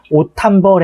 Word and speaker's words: 옷 한 벌: 그래서 디귿으로 발음이 된 다음에 이것이 히읗과 결합하게 되면 옷 한 벌 해가지고 티읕으로 바뀐다는 거예요.